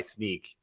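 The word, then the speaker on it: Snyk: their site that they they now go by sneak like which i don't i i i it's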